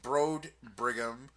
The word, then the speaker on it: Broedebrigham: Well, real quick, mine is at Broad Brigham, which is spelled BROEDEBRIGHAM.